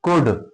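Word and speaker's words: could: कुड सी ओ यू एल डी। क्या पढ़ते हैं इसको? कुड। देखिए के साइलेंट कब रहता है?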